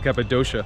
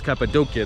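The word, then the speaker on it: Cappadocia: kayong nakarinig ng capadia I actually used to think it was called capadia but it's capadia that's the right way to say it's a place where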